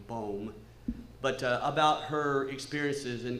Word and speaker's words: Boom: I would like to hear what you think about the story I relayed this morning about, we pronounce it Corrie ten Boom, but it's actually Bohm, but about her experiences in concentration camp.